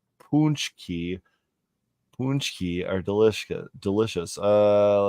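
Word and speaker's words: pączki: jelly filled gut bombs it's pronounced punchki punki are delici delicious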